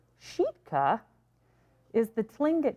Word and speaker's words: Sitka: Sitka, pronounced Sheetka, is the Tlingit name for what today is called Baranof Island, renamed by settler colonists.